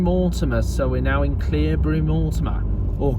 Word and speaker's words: Cleobury Mortimer: So there's the Old Lion pub at Cleobury-Mortimer, and Lower Street Garage.